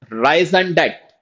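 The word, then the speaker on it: raison d'être: RE, this is silent. This is rise and debt.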